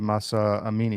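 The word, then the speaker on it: Mahsa Amini: That was uh that happened after the death of Masa Amini. Am I did I pronounce her name right?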